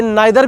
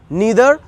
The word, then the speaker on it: neither: ये नाइदर भी पढ़ा जाता है और आइदर भी पढ़ा जाता है। नाइदर भी पढ़ा जाता है और आइदर भी पढ़ा जाता है, बट I pronounce it नीदर इधर। नाउ इट्स अप टू यू, मन है तो नीदर पढ़िए या नाइदर पढ़िए।